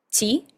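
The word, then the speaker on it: ち: En vez de ser ti y tu, tenemos las sílabas chi y tsu.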